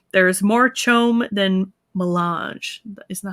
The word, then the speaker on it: melange: the duke said there is more chome than melange isn't that how you say it yes got